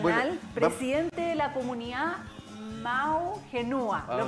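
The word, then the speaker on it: Ma'u Henua: Bueno, presidente de la comunidad Mau Genua. ¿Lo pronuncié bien?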